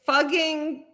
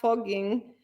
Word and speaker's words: Fucking: It's fugging, is spelled fucking, but it's pronounced fugging, or something like that.